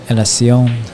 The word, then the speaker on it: Elacion: Elacion. Or if Anthony's still in the chat, correct us. Yeah, for mispronouncing his name.